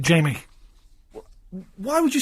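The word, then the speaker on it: Jaime: So it's common knowledge that's pronounced Jamie, is it? Okay, well, I stand... we'll ask him. We'll ask him when he comes in. I'll write it down for him. Big. J-A-I-M-E. I always thought it was Jame. I thought, well, that's a stupid... I've never heard that name.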